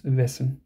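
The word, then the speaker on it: wessen: the sake of completion that's how you say hoes in German it's vessen now where did I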